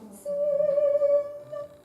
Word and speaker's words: sing: And a good NG, a nut moment, right? And that's a little tricky because it's not a g moment. It's not a hard G. It's that NG thing that we do here that they don't do in Long Island, right? So we've got to do sing, right? Not g, right?